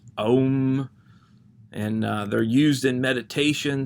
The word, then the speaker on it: Om: from the sanskrit alphabet and when pronounced they make the sacred sound and so they're pronounced om and they're used in